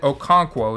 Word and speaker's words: Okonkwo: His last name is said Okonkwo.